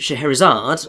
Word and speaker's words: Scheherazade: Yes, and his wife Scheherazade, or Scheherazade, it depends how you want to pronounce it. I think Scheherazade is mostly the correct one, and that possibly means of noble lineage.